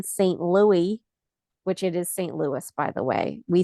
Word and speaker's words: St. Louis: Louis, which it is St. Louis, by the way.